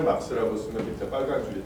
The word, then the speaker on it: 마르크스: 그러다 보니까 이제 이 카를 마르크스라는 원음하고 이제 생경한 표기가 어느덧 이제 당연한 것으로 이제 굳어져 있는 거다라는 생각이 듭니다. 어쨌거나 이 수업에서는 굳이 그런 표기를 쓰지 않고 이제 막스라고 읽고 쓸 거예요.